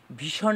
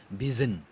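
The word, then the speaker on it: vision: যে শব্দটা, ভি আই এস I when, ভিজন, ভীষণ না, ভীষণ নয়, এটা হচ্ছে ভিজন, ভিজন, ঠিক আছে, জ উচ্চারণ হবে এবং সাউন্ড সিম্বলটা হচ্ছে এইভাবে থাকবে, ঠিক আছে, এমন একটা সাউন্ড সিম্বল থাকবে।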